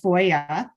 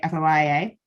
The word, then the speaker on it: FOIA: FOIA stands for Freedom of Information Act, but as you can hear, I'm pronouncing it FOIA. Some people will say FOIA.